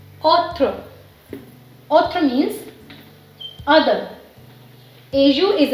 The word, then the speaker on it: autre: Second example is autre, autre, autre.